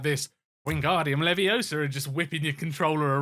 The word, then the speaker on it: Leviosa: And if you say it wrong, Hermione's voice comes out the thing, and it's Leviosa, not Leviosa.